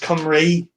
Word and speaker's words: Cymru: And it's pronounced Cymru.